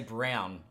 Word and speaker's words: Braun: Is it Braun or Brown? It's pronounced. It looks like Braun, but they say Brown on the telecast.